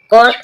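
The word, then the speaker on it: caught: What, what means, hello guys, what, what means, what, what means खरीदा, GH silent है। कोट, कोट means पकड़ा, कोट, कोट means पकड़ा।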